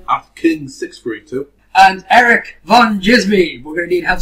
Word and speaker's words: Djismie: and Erik von Djismie. We're going to need help spelling this one. Twitter. That's Erik with a K, V-A-N, D-J-I-S-M-I-E, and the D is silent.